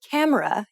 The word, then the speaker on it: camera: For example, when you say camera in English, you put stress on ka and say it for longer than the other syllables of the word.